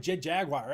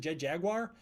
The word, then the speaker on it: Jet Jaguar: literally every single example pronounces it Jet Jaguar, where did I get my pronunciation from? Because my entire life I've called him Jet Jaguar. I pronounced it Jaguar in every context and didn't even know it was wrong until my friend called me out on it.